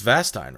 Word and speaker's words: Vastine: No, you pronounce my last name wrong. It's Vastine, right? Yeah. What do I say? Like Vastine?